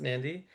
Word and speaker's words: Nadi: Uh I know it's spelled Beqa, but it's actually pronounced Benga, same way that Nadi is actually pronounced Nandi.